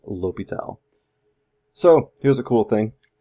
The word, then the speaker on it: L'Hôpital: Yes, it's spelled L'Hospital, but I definitely will tell you it is L'Hôpital.